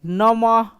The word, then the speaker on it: नमः: तो इसी प्रकार से नमः, नमः, ह का उच्चारण अंत में करना, जैसे लिखेंगे श, सॉरी